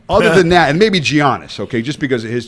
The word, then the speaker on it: Giannis: I was mispronouncing his name. Mm-hmm. And it is Giannis. Giannis Antetokounmpo. Yes.